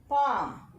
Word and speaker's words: palm: 17th, palm. In palm, L is silent.